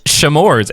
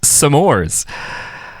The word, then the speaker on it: s'mores: No, I was just gonna ask I didn't know if I didn't know if you were like it also isn't pronounced shamores. It's pronounced samores.